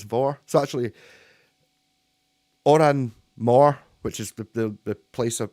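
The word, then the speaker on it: Òran Mór: So actually, Oran Mor, which is the place of, like, it's one of the venues in Glasgow, is actually Oran Vor. Because that's how you pronounce MH in Scots.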